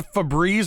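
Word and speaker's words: Faebreeze: It's Febreze, but it's spelled F-A-E breeze, yes. like Faerun.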